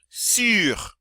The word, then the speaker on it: sur: Sur. Sur. Again, it's that U sound.